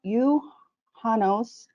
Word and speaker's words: Juhannus: So in Finland, it's called, it does have a J in it, but you leave the J silent. So the way you pronounce it is Juhannus.